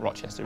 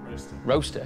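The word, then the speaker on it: Rocester: engineering companies a JCB I said Rochester but it's not Rochester it's erm how do you say oh yeah Rasta roaster yes a roaster tell us about it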